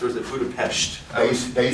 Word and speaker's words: Budapest: Now, is that the correct way to pronounce Budapest, or is it Budapest?